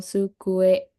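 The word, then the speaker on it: 机: lihat kanji terus ada sukue sukue hati-hati antara pengucapan su sama su ya Su ada t-nya di depan su kue atau meja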